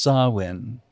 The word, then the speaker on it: Samhain: It's spelled Samhain, s a m h i a n, but it's pronounced Samhain.